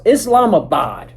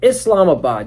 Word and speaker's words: Islamabad: It's Islamabad. Yeah, Islamabad.